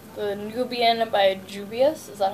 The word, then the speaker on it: Juvia: The Nubian by Juvia, is that how you pronounce it?